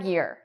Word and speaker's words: years: Whereas year and day, when we add an S, the S is pronounced like a Z.